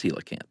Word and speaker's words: coelacanth: Or pronounced rather, right? Either one. But it's celacanth.